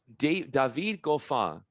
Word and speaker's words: David Goffin: David Goffin is how you pronounce the tennis player's name, but it's spelled the same way.